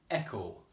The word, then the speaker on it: echo: Echo. Echo. So, sounds like it's got an e at the beginning. Again, the big clue was the k sound is spelt with ch.